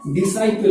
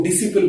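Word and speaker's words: disciple: हाँ, तो ये वर्ड जो है डिसाइपल है। कई बच्चे जो है इसको डिसिपल बोलते हैं, हम भी स्कूल टाइम में इसको डिसिपल बोलते थे।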